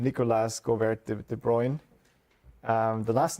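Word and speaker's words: de Bruijn: butcher the uh the Dutch name Nicholas Go De Bruyne um the last name is called is is pronounced De Bruyne I learned but uh I'm not sure about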